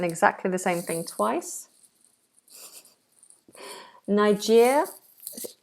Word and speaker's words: Niger: check this interesting okay Americans say Niger Brits apparently although I've never heard this say N N N I never heard that I've heard the more American pronunciation which is Niger Niger not that I